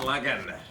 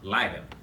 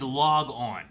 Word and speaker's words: Lagann: I don't think it's log on. I don't think that's the pronunciation, but we'll find out. This episode. It's not log on.